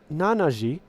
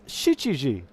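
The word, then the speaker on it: 七時: the name because seven the seven hours is not nanaji it's shichiji where did chichi come from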